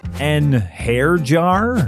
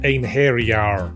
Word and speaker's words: einherjar: ones I can pronounce an hair jar it's pronounced Anar say tires it's satas